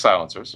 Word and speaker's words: Silent-SR: So Ruger makes silencers. Really? Did not know that. Yeah, we did. So we just got into the game last year. So it's spelled silent-SR, but we pronounce it silencer.